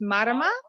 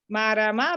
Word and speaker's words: Marama: her say it because it's a maori name so so to pronounce it properly it's marama marama but you're more than